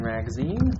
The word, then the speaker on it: Ragozzine: My name is Dr. Ragozzine, rhymes with magazine, and I'll be leading the discussion today.